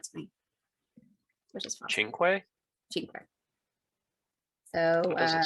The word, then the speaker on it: cinque: But that's not how you pronounce it. It's Cinque. So we're also learning things on the podcast. Wait, what is it? Cinque. What that's is that? How you say 5 in Italian.